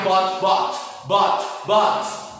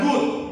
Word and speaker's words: bought: Oke, buy, bought. Oke, bukan boot.